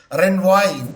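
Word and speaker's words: renvoi: recognition or the enforcement of the foreign judgment Ren why the pronunciation is r e n v o i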